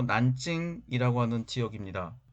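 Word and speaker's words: 南京: 펑 이라는 지명 입니다 뒤 논 남경 중국어 발음으로 난 찡 이라고 하는 지역입니다 이 논 북경 베이징 이라고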